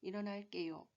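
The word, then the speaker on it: 일어날게요: 요거는 이렇게 쓰셔야 맞습니다 일어날 개요 쓰실 때는 일어날 게 요 라고 쓰시고 발음 하시면 되는 일어날 께요 이렇게 발음 하시면 되겠습니다 틀리기 쉬운 두 가지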